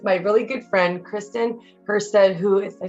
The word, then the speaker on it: Hustead: here today with my really good friend Kristen HST said who if I say it right that's damn it that's all right that's right